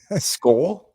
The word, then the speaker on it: Skol: Skull. Yeah, skull. Like a hard L.